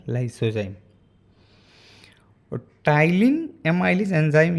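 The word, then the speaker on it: ptyalin: तो पहला है लाइसोजाइम और तीसरा है टाइलिन एमाइलेज एंजाइम। जब हम लोग प्रोनाउंस करेंगे तो TY से होगा, लेकिन जब लिखेंगे तो PTYLINE। P जो होता है वो साइलेंट होता है, इसलिए टाइलिन एमाइलेज एंजाइम या इसे सलाइवरी एमाइलेज बोलते हैं।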